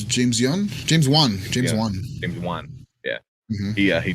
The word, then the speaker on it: James Wan: But oh man, yeah, this was James Yoon. How do you pronounce his name? I could have sworn it was James Wan.